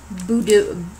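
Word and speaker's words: budou: These hard candies have a surprise gummy center and come in a red boudou. I'm not pronouncing this right.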